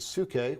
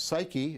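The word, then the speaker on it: ψυχή: And this is important because this word suke, which we now pronounce psyche, is going to be the basis of the idea of psychology as a discipline.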